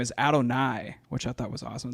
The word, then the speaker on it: Adonai: Adonai Mitchell. That No, goes it's hard. a Donnie, but spelled like God.